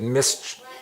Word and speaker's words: mischief: His eyes twinkled with mischief. What does your dad tell you? Don't get into any mischief, right? It's just pronounced a little differently.